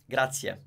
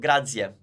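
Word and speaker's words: grazie: okay it grabs yeah so it's crap see ya Grazia now in a possible mistake would be to make it with the sounds of grads yeah now it's not the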